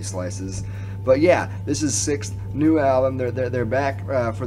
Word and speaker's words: SikTh: I always mess up how to say their name because, like, mentally I want to say SikTh, when actually the name is SikTh. So pardon me, guys. SikTh.